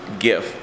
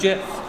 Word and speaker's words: GIF: One of the oldest file formats on the internet, by the way, pronounced GIF, was formed in 1987. I thought it was GIF.